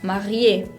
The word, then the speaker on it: marié: La E con acento se pronuncia siempre. Por ejemplo, en la palabra marié. Marié, que significa casado.